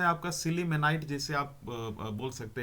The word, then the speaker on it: sillimanite: अगला जो है आपका सिलीमेनाइट, जिसे आप बोल सकते हैं, यानी स्पेलिंग आप ध्यान दीजिएगा, SILLIMANITE, ठीक है ना।